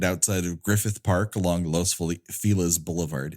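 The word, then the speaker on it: Los Feliz: of Griffith Park along Los fela's bouevard it's spelled Los fiz but everyone here in this dumbass Town call calls it Los Filas um it's the William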